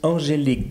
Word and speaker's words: Angelique: I'm sitting here with Angelique do I pronounce it well that is perfect okay Angelique she's a